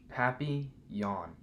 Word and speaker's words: papillon: like our neighbor's dog you say it like this happy yawn in french it means butterfly i help miss devine